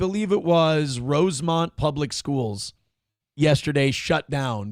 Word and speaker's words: Rosemount: Rosemont. It's not Rosemount. It's spelled Rosemount just like New Prague is spelled like Prague, but everyone calls it New Prague.